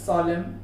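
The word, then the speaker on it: solemn: जैसे autumn, कॉलम, कॉन्डेम, ये हो गया सॉलम, ये सारी चीजें के एंडिंग में यहाँ पर देखिए MN आया हुआ है, वहां पर उसे N को साइलेंट करना है।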